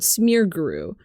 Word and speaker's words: Smeargle: Um, I found out about smearguru, which is smeargle, but uh it's a variant of smear gole called smearguru because I'm American.